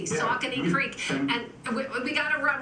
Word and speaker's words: Saucony: say the brewery so it's a hard sea Saucony Creek and we gotta